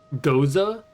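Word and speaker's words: Gose: I don't know how that how that's pronounced. It's a thing of al alchaholics. It's like a German sour wheat beer or something like that. Goza. Pronounced Goza. Okay. pronounced it goza, but it's watermelon and it's really sour.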